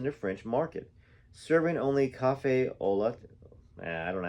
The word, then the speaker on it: café au lait: coffee shops in the French market, serving only café au lait. I don't know how to say this. Café au lait. I'll spell it so y'all know what it says.